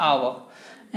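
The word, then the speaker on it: hour: For example an आवर, एन आवर, H silent है, यहाँ H silent है तो आवर, एन आवर, तो एन लगा दिया।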